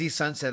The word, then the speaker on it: Sonset: So yeah, AZ Sonset, it is a play on words. He does spell it S-O-N.